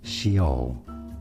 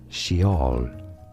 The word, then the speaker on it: Sheol: In English, this is said as Sheol. Sheol In Hebrew, however, it is normally pronounced as Sheol.